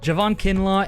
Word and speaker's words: Javon Kinlaw: this uh what are these guys names uh javon kinlaw and samson ebucom that's how it's telling me it's pronounced uh they are also questionable so the